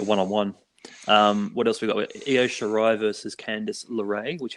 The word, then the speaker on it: Io: So her name is Io Shirai. It's spelled I and an O. I have heard people say Yao Shirai.